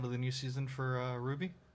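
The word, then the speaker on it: RWBY: the new season for ruby or royal Rawabi as it sometimes pronounced I don't think anyone pronounces it that way I might so correct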